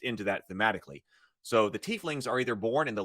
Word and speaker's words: tiefling: because I'm just into that thematically so the tieflings are either born in the lower planes or